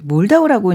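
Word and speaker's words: Moldau: 우리 왜 몰다오라고 이제 알려져 있지만 이게 독일어 발음이고 체코어로는 불타바라면서요.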